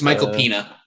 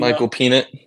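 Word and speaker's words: Michael Peña: Nate also cannot pronounce his name, which makes it even funnier. Oh yeah, it's Michael Pena. Michael Pena. Michael Peanut.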